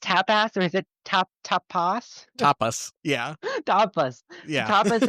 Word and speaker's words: Tapas: Is it pronounced tapas or is it tapas?